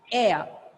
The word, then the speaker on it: air: When I write A-I-R, we usually pronounce it as air or air. Sometimes we imitate the American style. But the right pronunciation is in British English, exactly only this diphthong sound. Air. Okay? At the end, you have to keep your mouth opened. Air. Air.